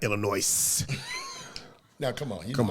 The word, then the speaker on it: Illinois: going to do is mispronounce our state it's illinois it's not illinois now come on here